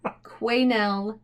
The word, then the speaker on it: Quesnel: I did Google it and listen to a pronunciation, and it said Quesnel Museum in British Columbia.